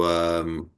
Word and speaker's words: Rego: artist who is Paula Higo? Oh, Is she someone that you've discovered? I have not. Paula I Higo, her last name is spelled Rego. Paula REGO. Higo, yeah, she's a fascinating painter.